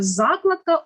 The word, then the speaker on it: закладка: ми наголошуємо це слово тобто закладка у підручнику мені купили нову закладку наголос на перший склад падає наступне Слово також правильно